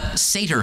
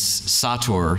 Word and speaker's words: Sator: This is the Sater Square. My high school Latin teacher would be upset with my pronunciation. I think I'm supposed to pronounce this Sator Square.